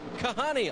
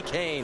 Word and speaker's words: Kahne: had trouble with pain I got called kahani a lot everyone knows now it's kasey kahne now on Kyle Busch